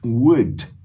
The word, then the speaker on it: would: Para esse wood, wood é o chique. Esse L não tem som, o U é de good.